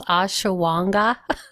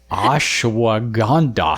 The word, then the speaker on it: ashwagandha: And what is the one that I'm not going to be able to pronounce? Ashawanga. Ashwagandha.